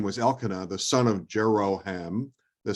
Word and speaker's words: Elkanah: from the hill country of Ephraim, and his name was Elkanah, the son of Jeroham, the son of Elihu, the son of Tohu, the son of Zuph, an Ephraimite.